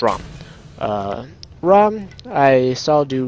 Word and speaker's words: Rama: Uh, I'm actually going to play Rama. Uh, or Rom. I'm so used to saying that at that, but it's actually pronounced Rom.